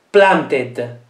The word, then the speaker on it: planted: Planted. Planted. Planted. Quindi ancora, il verbo finisce con una T e la vocale va pronunciata. Insomma, anche oggi non è